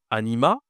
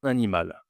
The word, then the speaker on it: animal: En gros, est-ce que je dois dire anima ? C'est masculin. Alors, à ton avis, qu'est-ce qu'on doit dire ici ? Ici, bien sûr, on doit prononcer le L. On dit un animal. Un animal. On doit prononcer la consonne à la fin du mot.